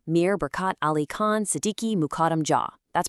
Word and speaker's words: Mukarram Jah: We are studying the life of Nizam Mir Barkat Ali Khan Siddiqi Mukarram Jah. That's pronounced Mukarram Jah.